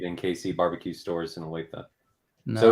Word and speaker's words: Olathe: He says Alati. That's how I used to pronounce it, man. When you first told me Olathe, I could not. I was like, Olathe. You do it correct now.